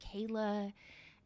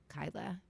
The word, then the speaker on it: Kyla: actually it's it's pronounced Kyla and he goes oh I'll just write it phonetically and he writes ky-la and I said so you agree it's pronounced the way that it's spelled and I can't like